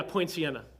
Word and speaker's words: Poinciana: that I think supposed to it's, say Point Sienna? Is that what that is? yeah, Point Sienna. There you go. Don't believe that's spelled correctly, but it's all right.